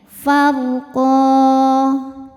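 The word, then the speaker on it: فَرْقًا: Huruf ra sukun dibaca secara tafkhim karena harokat sebelumnya fathah. Cara bacanya ditebalkan ro-nya. Far, pangkal lidah naik. Farqa. Saat berhenti di qa, hukumnya adalah mad iwad karena ada baris tanwin fathah yang diberhentikan. Cara bacanya panjang 2 harokat. Farqa.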